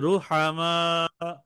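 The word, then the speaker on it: رُحَمَاءُ: হবে না রসুলুন রসুলুন হ্যা বলেন রসুল রুহামা রুহামা রুহামা রুহামা রুহামা রুহামা তিনবার বলেন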